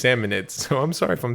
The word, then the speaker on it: Salmonids: Is it salmonoids or salmonids? I think it's salmonids.